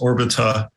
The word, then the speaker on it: Orbita: You can also go to the Orbita website, which is just Orbita. It's like orbital without the L.